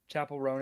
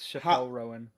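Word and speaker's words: Chappell Roan: My English teacher pronounced uh Chapel Ron as Chappelle Rowan.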